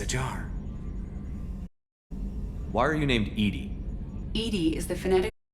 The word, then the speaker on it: EDI: Why are you named Edie? EDI is the phonetic pronunciation of I, acronym for Enhanced Intelligence.